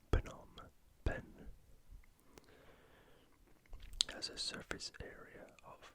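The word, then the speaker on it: Phnom Penh: of Cambodia is not a silent B it's Phenom Ben as a surface area of roughly 70 000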